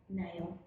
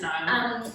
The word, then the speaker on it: Niall: Nail. I'm not saying it like that. Yeah, no, it's Niall.